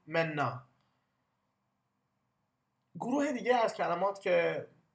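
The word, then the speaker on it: Männer: همون طوری که می‌بینید ا ر در آخر کلمه در زبان آلمانی ار تلفظ نمیشه و بیشتر آ تلفظ میشه پس نه منر بیشتر تلفظ بکنید بکنید بکنید منا گروه دیگه از کلمات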